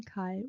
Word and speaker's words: 갈: And then 갈, which pronunciation? Garlic, okay? But without R because I said forget about R.